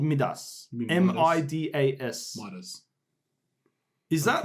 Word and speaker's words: Midas: Midas. Is that like Australian or American? I'm pretty sure that's pronounced Midas.